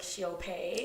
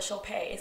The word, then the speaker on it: Shilpa: It's so funny because people always think it sounds like Shilpa. Shilpa. They're like, oh my gosh, Shilpa. And I'm like, yeah. Well, my Instagram is my name and my last initial. Right. Shilpa.